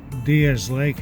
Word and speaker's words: Diaz Lake: the area and uh the lake diaz diaz lake actually is how they pronounce it ever say it